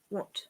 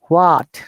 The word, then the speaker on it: what: What? Like this one, most of the sometimes I hear the people say what. No, this is what. H is silent and O is shorter.